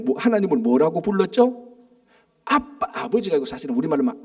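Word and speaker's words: Abba: 근데 이게 그 아빠가 우리가 하는 아빠하고 발음이 똑같아요.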